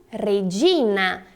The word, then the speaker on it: Regina: português e em italiano Regina veja bem Sutil Regina Hey em italiano Olha a pronúncia do nosso R Ei já em italiano não tô a diferença na letra R é um som mais tremido vou falar novamente observe